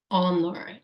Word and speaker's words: honor: every Memorial Day honor honor and as you see guys the this word is h o n o r honor honor silent h yes those silent letters